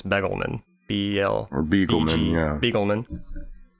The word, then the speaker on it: Begelman: Not Bagelman, I think it's Begelman.